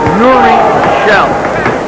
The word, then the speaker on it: Jyri Kjall: Name is pronounced Yuri Shell. Don't let that J-Y-R-A scare you.